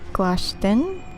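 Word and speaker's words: Glashtyn: I think it's Glashtin, because I always want to pronounce the YN as an IN, like win, but it's really pronounced as an N sound, like in when, not in win, like WIN.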